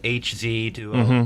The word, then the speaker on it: Hz: I think both HZ duo and Hertz duo are correct.